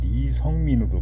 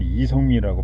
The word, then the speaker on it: 이성민: 북한에서는 이성민을 발음하라 그러면은 리성민으로 발음합니다. 리성민으로. 그래서 이렇게, 왜냐면 북한은 두음 법칙이 없거든요.